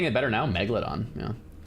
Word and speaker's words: megalodon: Megalodon. Yeah. So it's not mega. Megalodon is the extra syllable. It's just megalodon.